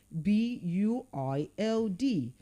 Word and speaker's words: build: Now let's look at a monoic word like B U I L D. B U I L D. Now that word is pronounced as build and not build. So you don't build a house, you build a house.